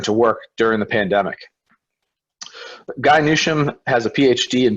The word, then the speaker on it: Guy: and asking yes it's i often get in canada but it's actually guy in my case all